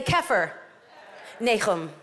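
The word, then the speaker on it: כפר נחום: See, we say Capernaum, but that's not how it's pronounced. Say this with me. Say Kefir. Nechum.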